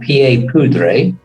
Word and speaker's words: pieds poudrés: That pronunciation, the French pronunciation, was a bit too much for the English tongue, so they became known as courts of pie powder.